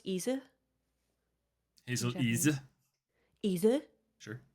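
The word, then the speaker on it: Ize: I like to think it's pronounced Isa.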